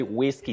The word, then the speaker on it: whiskey: That H is silent. So you say whiskey just like which when why and others.